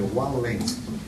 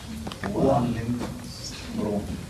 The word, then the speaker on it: Waldenström: A ver, Waldenström. Puntitos en la O. Creo que es holandés.